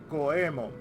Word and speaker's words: Goemon: It's the same thing with Goemon. It's Goemon. They say Goemon. It's Goemon. Like, Doraemon that's how you pronounce Doraemon's name. Doraemon. Like, the A is slightly silent. Just like with Goemon. Goemon. Because E is E in Japanese.